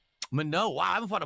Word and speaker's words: Manon: That's a a French girl's name. A given name in French in front said as Mano.